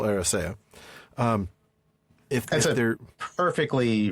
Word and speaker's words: Eressëa: Tol Eressëa, and again, that's a word I used to pronounce Eressëa because I always had this tendency to read the umlaut like it was a stress mark, but it's definitely Tol Eressëa.